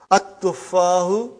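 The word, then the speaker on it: التفاح: But now your mind knows that that is a sun letter. So you will pronounce as at-tuffahu. You will put a shadda anta.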